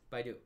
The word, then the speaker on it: Baidu: so China's largest search engine I hope I pronounce this right Baidu yes that's correct Baidu okay so uh AMD epic server processor is